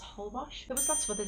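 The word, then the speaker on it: Holbox: ended up coming across I think it's pronounced whole Bosh it was that's for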